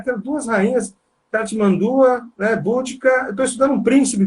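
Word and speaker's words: Boudica: No caso, aí, a Búdica, ou Bodicea, né, latinizada, forma latinizada Bodicea, ou Búdica, ou Budica, também tem, né, a forma mais anglicizada, aí, Búdica, né, com a sílaba tônica primeira.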